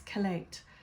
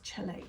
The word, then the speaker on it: chelate: I talk about heavy metals and how to the proper way to pronounce it is chelate but it looks like it's chelate so chelators heavy metals and